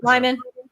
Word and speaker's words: Lehmann: yep oh yeah i never know how to pronounce his last name lyman line yep lyman okay do i go get